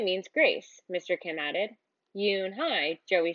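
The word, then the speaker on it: Unhei: turning around it was Joey your name is Yun he he asked her with his eyes open wide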